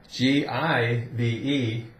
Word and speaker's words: give: no no for example if you take the word g i v e give here I'm going to give you my marker G well that's G not J you don't J someone something you give them something so the rules are